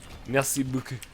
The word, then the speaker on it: merci beaucoup: Except you wouldn't emphasize any part of the beaucoup. It was just merci beaucoup, right?